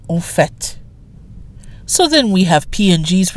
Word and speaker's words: en fait: And notice the pronunciation. F-A-I-T, which in this case is a noun that means fact, can be pronounced fait in other instances, but not in this expression. We don't say en fait, we say en fait.